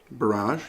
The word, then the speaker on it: Barrage: Do I pronounce it right? Barrage? Barrage, yeah, that's how it's pronounced.